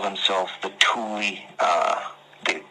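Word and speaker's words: Thule: to call themselves the Tuli uh the like T h u L E but pronounced T O O L I E.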